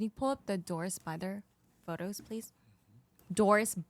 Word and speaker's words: Bither: pull up the dorsis byther photos please Doris bther so it's her last name is spelled bit her b i t h e r Doris bit her ghost